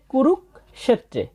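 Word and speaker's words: কুরুক্ষেত্রে: শেষে আছে তরফলা এককার তাহলে প্রথমটা আমরা সঠিক উচ্চারণ পেয়ে গেলাম ধর্মক ক্ষেত্রে এরপর আছে কুরুক ক্ষেত্রে এখানে একই ধরনের ব্যাখ্যা তাই আর ব্যাখ্যা করার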